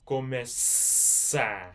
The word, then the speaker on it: começar: So yeah, so you're pronouncing it começar. So this letter is here, s, começar. It makes it more like an S sound because it has a cedilha.